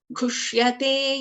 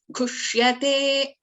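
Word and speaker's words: घुष्यते: Whereas if you look at this Te, Ghushyate, T plus Ye is Te. Ye is a Dirghasvara. So Ghushyate.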